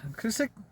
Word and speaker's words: Cusick: Cusick, Washington. I found out that's how you pronounce that.